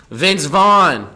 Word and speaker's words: Vince Vaughn: 20 bucks mowed Milan Vince Vaughn his name rhymes with Sean but he ain't Sean